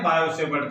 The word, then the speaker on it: Biot-Savart: Biot लिखा जाता है, इंग्लिश में लिखते हैं हम लोग, पर की साइलेंट रहता है, बायो पढ़ते हैं इसको।